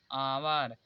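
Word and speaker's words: hour: इसे पढ़ा जाता है ऑनेस्ट, इसे आवर, लेकिन लिखा जाएगा हावर। एच एच ओ यू आर ही लिखा जाएगा, केवल पढ़ा जाएगा आवर।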